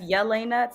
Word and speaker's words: Jahlaina: viewers my name is Elena um yes Yelena spelled with the J um means God's bright